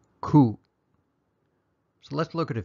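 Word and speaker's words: ခု: what the correct kind of word is it's pronounced ku so let's look at a few examples of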